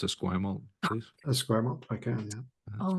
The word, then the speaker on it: Esquimalt: Geoff, could you pronounce Esquimalt, please? Esquimalt, I can, yeah.